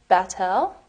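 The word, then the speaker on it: בת אל: get a tattoo WR it's in Hebrew it's pronounced battel and it means daughter of God you're generally doing a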